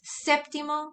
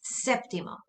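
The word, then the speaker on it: séptimo: next one is seventh septimo notice that there's an accent on that e make sure that you include it septimo septima notice that that's also where you put your emphasis septimo and then here you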